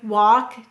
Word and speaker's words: walk: we have the word walk talk chalk notice the l is silent however the l in these words is telling the a that it's broad so that's why the a is broad and walk talk and chalk it's